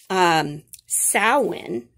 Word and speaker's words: Samhain: going into november 1st thousands of years ago samhain is how you pronounce this was a pagan festival uh celebration